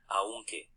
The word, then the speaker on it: aunque: So that's kind of how I say it because I learned in Spanish in Spain. But Aunque. Aunque. In Mexico, they say it a little different.